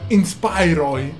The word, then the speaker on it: Inspiroy: a schermo una union inspirò il mare si pronuncia inspiron spray spray e la seconda che una tavola